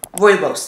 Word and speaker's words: rooibos: I can't remember how I was pronouncing it before, but it's called rooibos tea.